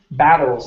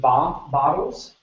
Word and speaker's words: battles: only other word here is battles instead of B bottles it's a ba battles battles good one more time